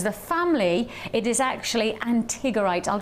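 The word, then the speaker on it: antigorite: will give you the main premise of the antigerite.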